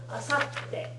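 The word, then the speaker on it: あさって: Asatte. Asatte. It's got a small tsu in it, not because of being any kind of te form or anything like that.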